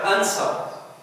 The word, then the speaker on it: answer: أركب الاثنين مع بعض أيضا في كلمة answer answer الدبليو تكتب لا تنطق ما نقدرش نقول هنا answer answer الصح إن أنا نقول answer بصمت حرف الدبليو The word hold أيضا